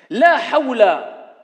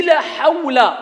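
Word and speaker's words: لا حول: La hawla, ce n'est pas la hawla. Alors ici je rectifie un peu. Certains quand ils prononcent ils disent la hawla wa la quwwata illa billah. La hawla.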